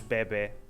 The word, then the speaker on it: bebé: dizemos bebé, E nós bebê.